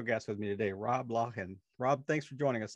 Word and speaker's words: Loughan: So tell them how you pronounce it. Loughan.